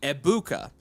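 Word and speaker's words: Egbuka: Um, the name Eggbuka is pronounced with a silent G. Ebuka. The emphasis is on the middle syllable.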